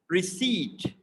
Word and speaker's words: receipt: see that i p they are kind of silent and they are replaced by a longer vowel sound e receipt give me the receipt so some people might find it weird why it is pronounced at receipt so that's the way it is in the british pronunciation it is receipt yeah so let's move